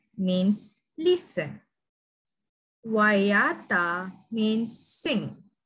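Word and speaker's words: waiata: Wayata means sing.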